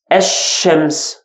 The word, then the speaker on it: الشمس: And second, this lam will be silent. Okay? We agreed that this one, this alif, is alif wasl or hamzat wasl. Ash-shams. Ash-shams. Because this one is silent, the lam is silent, I jumped from here to letter sha.